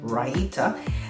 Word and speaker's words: raita: And Raita, and that is exactly how you pronounce it, it is Raita.